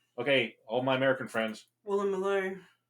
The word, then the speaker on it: Woolloomooloo: eastern suburbs, Vaucluse, Waverley, Woolloomooloo. Vaucluse. Okay, all my American friends. Woolloomooloo. How you like that Aussie word? Woolloomooloo. Woolloomooloo. It sounds exactly as it's spelled, but it's Woolloomooloo and Darlinghurst, and in